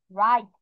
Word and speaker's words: right: রাইট, GHT, GHT, এখানে তাহলে দেখো রড উচ্চারণ পেয়েছো, তারপর ঈদ উচ্চারণ পাচ্ছো, আর শেষে গিয়ে থা ধরতেছে, রাইট। এর মাঝে জিএস, ঘা, গ এরকম কোনো প্রোনাউন্সিয়েশন কিন্তু হয় না।